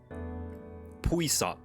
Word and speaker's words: puissant: Puissant. That's how you say it.